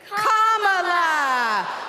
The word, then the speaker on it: Kamala: First, you say comma like a comma in a sentence. Then you say la like la la la la la. Put it together, and it's 1, 2, 3. Kamala.